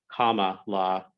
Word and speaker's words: Kamala: I thought I had been pronouncing it right, but it's Kamala Harris. That's from what I understand to be the correct one.